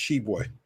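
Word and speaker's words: Tshiebwe: I think the T is silent for what it's. I think it's just Shibwe.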